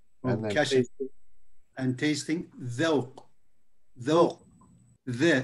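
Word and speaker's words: ذوق: Dhawq. Dhawq. The. It's like TH actually, but it's translated DH here.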